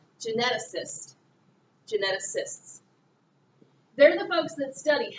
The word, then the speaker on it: geneticists: difficult thing to say because this is a soft C sound kind of sounds like an S geneticist geneticists they're the folks that